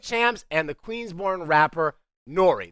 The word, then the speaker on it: N.O.R.E.: and the Queensborn rapper Nori. That's N O R E pronounced Nori.